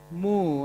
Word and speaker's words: Mu: evening, Miss Siv Catherine Mu. I was struggling to say her last name, but she told me that's how you pronounce it.